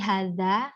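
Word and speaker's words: هذا: pertama, menulis dzalika, hadhihi, hadza, setiap huruf awalnya dibaca panjang dengan menggunakan fathah berdiri. Bukan alif ya, tapi fathah berdiri. Jadi harokat fathah yang biasanya miring itu berdiri. Dan bacanya panjang.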